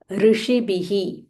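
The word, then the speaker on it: ऋषिभिः: महाप्राण खिख्यातानी महात्मः महात्मनः ऋषिबिह ऋषिबिह so this is र ऋषि बिह श मूर्धन्या श ऋषि भी भ महाप्राणा एंड देयर इज अ विसर्ग फॉललोड बाय प सो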